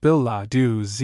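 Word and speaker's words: billet-doux: Biladu footnote plural billet du pronounced bill lau z comm commander and chief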